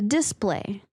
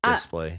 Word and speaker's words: display: So, this is one of those weird words that the stress falls on different syllables depending on if it's a verb or a noun. Yeah. So, as a verb, it's the display, right? And as a noun, it's a display.